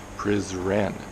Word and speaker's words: Prizren: good morning I'm in prison in Kosovo yes that's right it's prison but it's pronounced prison PR i--'s e AR en but if you